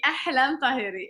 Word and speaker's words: Ahlam Tahari: Je suis avec, là, j'espère que je vais bien le prononcer, Halam Tahari. Est-ce que c'est ça? Est-ce que je le prononce bien? Oui, oui, Ahlam Tahiri, exact.